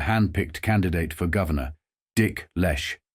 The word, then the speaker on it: Leche: candidate for Governor dick Lesh rhymes with flesh the lechy long ticket